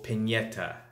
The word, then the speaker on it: Pianeta: But this fight was more of a return fight for Tyson Fury against Francesco Pianeta.